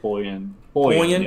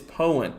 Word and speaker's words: Poyen: of the Prattsville area, southeast of Poyen. Excuse me if I pronounced that. That's my first mistake tonight. You got it right. Poyen. Yep. Poyen. There we go. I see. I'm getting pretty good at pronouncing these cities' names here. So right now, just southwest of the Sheridan, Poyen. It's Poyen.